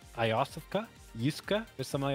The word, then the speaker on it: Iosefka: Well, yeah, I know how to spell it too. Yosefka? Yosefka.